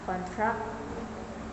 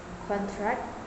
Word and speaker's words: contract: Typically, the stress Typically, the stress is placed on the first syllable for nouns and on the second syllable for verbs. This shift can entirely change the meaning of the word. For example, contract as a noun, a formal agreement. Contract as a verb, to reduce in size or to grow.